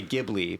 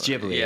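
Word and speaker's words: Ghibli: was told recently that I've been saying it wrong forever so because I always say gibli but like it might actually be JBL no it's actually Atari you been screwing Atari it's jibli it's jibli right okay so and they're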